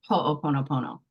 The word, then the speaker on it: ho'oponopono: If there's ever a word that you cannot say, you say it starting with the last syllable first. So no, pono, oponopono, ho'oponopono. And you break it up like that, and you'll never say it wrong again.